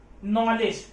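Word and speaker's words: knowledge: लीजिए देखिए, नॉलेज, एक ज्ञान, नॉलेज में के साइलेंट है, हम किसको पढ़ रहे हैं, एन, न क्या है, व्यंजन, क्या लगाएंगे, अनॉलेज।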